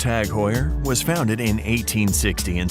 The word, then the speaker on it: TAG Heuer: Tag Heuer, pronounced Tag Heuer, was founded in 1860 in Switzerland.